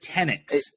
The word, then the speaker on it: Tenyks: Am I pronouncing that right? Tenyks.